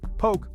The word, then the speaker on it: poke: This, my friends, is poke. Poke, pronounced poke, is a Hawaiian sushi bowl.